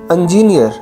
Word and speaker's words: engineer: today's second one is engineer engineers wrong pronunciation correct pronunciation engineer engineer pronunciation british american this word is engineer foreign